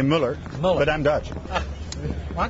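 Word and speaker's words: Muller: I say Mueller, but I'm Dutch. Well, I'm going to say Mueller then.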